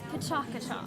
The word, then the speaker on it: Pecha Kucha: It's Pachakacha. Pachakacha. Yeah, it took me. I know it took me forever to realize how to say it, but it's Japanese.